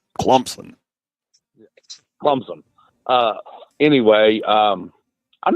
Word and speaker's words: Clemson: day Davos Sweeny's team you pronounced that as kumson Clemson c u m PS o n that's how they say it D Clemson Clemson uh anyway um